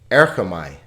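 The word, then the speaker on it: ἔρχομαι: Erchamai. Er-cha-mai. So there are 3 vowel sounds, 3 syllables.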